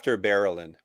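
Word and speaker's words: Berelain: After Barrelin.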